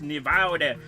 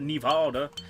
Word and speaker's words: Nevada: Sure, it's pronounced Nevada, not Nevada.